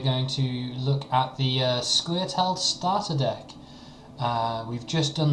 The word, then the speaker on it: Scoia'tael: it's kind of phonetic if you think like Scoia'tael or Scoia'tael. So it depends on how much you pronounce the A, I suppose.